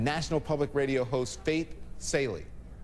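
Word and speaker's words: Salie: public radio host Faith saley okay is that right say Sally they said you got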